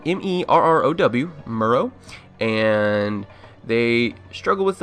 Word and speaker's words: Merrow: It's spelled M-E-R-R-O-W, Merrow.